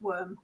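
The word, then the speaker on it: wyrm: L worm yes worm SP Wy RM but it is just pronounced worm yeah you're right worm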